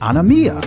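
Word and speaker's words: ἀνομία: the works of iniquity the greek word for iniquity is pronounced anemia which means violation of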